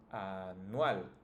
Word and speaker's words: anual: You just need to pronounce the last one, the strongest, the last syllable. In this case, it's tal. In the second word, it's nal. In this one, it's nual, right?